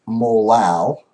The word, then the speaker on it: molal: we get 309 M that is pronounced molal as opposed to the M um in marity okay now why would